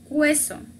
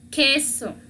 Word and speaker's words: queso: No sé, para leerla no vamos a decir queso, no, queso. Peinit. En español es queso.